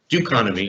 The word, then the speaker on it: Dokonomi: i'll explain it yeah do economy instead of economy it's the duke economy yeah the economy and